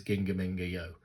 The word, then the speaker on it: GingaMingaYo: It is GingaMingaYo, because I've looked at the Hangul and that seems to be how it's said.